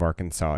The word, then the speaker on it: Arkansas: Arkansas and how basically the letter S at the end of Arkansas is a silent letter so this is a